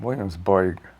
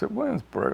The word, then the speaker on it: Williamsburg: I'm Williamsboyg. We don't really pronounce 'boyg', we pronounce Williamsburg like anyone else.